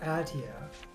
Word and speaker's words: Aetia: Okay, so I guess one is pronounced Aetia. It just had never been pronounced before, so I didn't know.